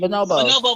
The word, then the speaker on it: bonobo: what's that one monkey not the the bono monkey but that's how you pronounce it ma'am I do not know monkey bonobo monkey hold on one